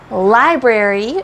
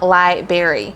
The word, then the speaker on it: library: correct version is Library we need to have that R like prairie Prairie and it is not light Berry so I don't know